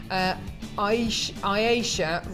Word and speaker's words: Aisha: You may notice the tag at the back, hoping to sell Aisha rhymes with Croatia in Glossop.